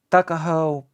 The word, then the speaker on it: Tuckahoe: Eastern Shore men usually pronounce the word took as tuck. Tuckahoe, therefore, is in Maryland parlance. Tuckahoe, but whatever may have been